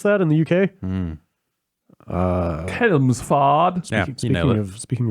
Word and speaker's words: Chelmsford: James from, I'm gonna say Chelmsford is how you pronounce that in the UK. Mm. Chelmsford.